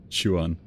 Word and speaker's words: Quan: Quan is pronounced more like Chuan. Oh, Chuan. Fair enough, fair enough. It's one of the things that I think between different languages, there's always the subtleties between how you group syllables together and how you pronounce them. So essentially the QU isn't qua or Q as we would pronounce in English, it's more chu.